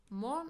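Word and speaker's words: も: Mo means also or to as well. It is pronounced as mo and usually it comes after a noun.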